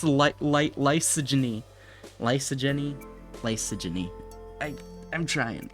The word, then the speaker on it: lysogeny: how to pronounce light lysogeny lysogeny lysogeny I I'm trying logy logy yes that is how you pronounce it logy like Lysol and then misogyny lyso misogyny no so